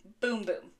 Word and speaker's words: Bum Bum: Okay, and I know that I'm saying boom boom and it looks like bum bum, but it is pronounced boom boom in Portuguese.